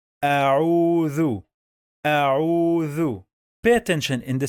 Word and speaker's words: أعوذ: We don't say au, oo. No, we must say au.